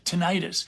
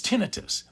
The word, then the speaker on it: tinnitus: people incorrectly pronounce it tinnitus but it's tinnitus I think the reason they call it tinnitus is they think of tonsillitis but anyway tinnitus is